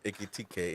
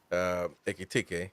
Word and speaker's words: Ekitike: But we already in the fight for Ekitike, and that's how you say it. People. Yabrowski is making fun of me. It wins disciple because of how I say. I'm saying it properly actually. Ekitike, and I'm not.